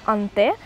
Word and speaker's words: Haunted: По-французски серия читается как Анте.